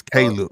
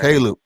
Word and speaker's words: Caleb: I keep calling this boy Khalid because that's how we pronounce it. It's Caleb, man. Right. Caleb.